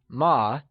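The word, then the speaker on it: 吗: particles in mandarin so remember that ma is pronounced using a neutral tone which carries the soft falling sound as if the sound is fading away now that we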